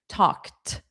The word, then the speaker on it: talked: Talked is another one where the ED is pronounced as T. Talked.